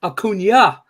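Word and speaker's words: Acuña: love the show but it's pronounced Acuna not akun uh well it's pronounced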